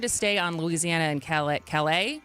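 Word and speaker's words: Callais: And I wanted to stay on Louisiana and Calais. Is that how you pronounce it? Yes. Not Cali. Right. It's French.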